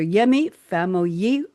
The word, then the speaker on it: Yemi Famuyiwa: Yemi Famuyiwa.